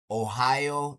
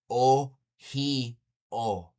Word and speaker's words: Ohio: Ohio. That's not right. That's the colonized way to say it. It's O heo.